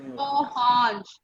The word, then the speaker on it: orange: जैसे ओ बोलना ऐसे ही हो. Okay. Orange. Okay. Oh Hanj.